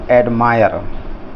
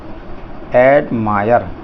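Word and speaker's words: admire: अब इसमें जो आई है इसका उच्चारण भी आय होगा, तो इसको बोलेंगे एडमायर, ये हो जाएगा एडमायर, हो गया आय, माय, फिर रा रहा है। और जो बाद में इस शब्द के अंत में ई है, इस ई का कोई उच्चारण नहीं होगा। ये नियम हमेशा रखेंगे कि अगर किसी शब्द के अंत में ई होगा तो उस ई का उच्चारण नहीं बोलना है, और इस ई से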